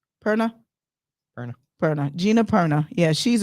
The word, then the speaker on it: Perna: yes how do you say her name Gina p-e-r-n-a Purna Erna Gina Perna yeah she's amazing if you